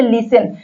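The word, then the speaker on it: listen: हम आगे सीखेंगे देखिए अगर टी के बाद एस आए तो टी साइलेंट होता कहीं पर भी टी के बाद अगर एस आया है तो वहां पर टी साइलेंट होगा टी का कोई उच्चारण नहीं होगा देखिए जैसे लिसन लिसन लिस्टन नहीं कहेंगे लिसन कहेंगे एल आई एस टी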